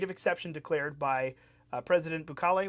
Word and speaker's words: Bukele: What do we say? Bukele. Bukele. Well, you just said it two different ways, so I'm not going to. I mispronounced the first time. Oh, okay, sure. I always say Bukele. Yeah. Don't listen to my second, not my first.